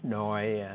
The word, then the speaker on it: SNOI: And then people talk about how to classify this, and they pronounce the acronym too as SNOI and SOI.